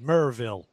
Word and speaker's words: Maryville: It's actually Maryville, as how it's spelled, but they say it Merville.